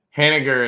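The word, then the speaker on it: Haniger: Hanager is how they just pronounced it on television.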